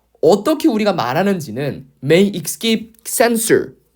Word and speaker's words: censor: 하지만 어떻게 우리가 말하는지는 may escape censor. 이 캔서라고 읽으면 암이 돼요.